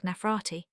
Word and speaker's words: Nefertiti: Reference Wikipedia or Nefertiti pronounced at the time something like asterisk Nefrarati.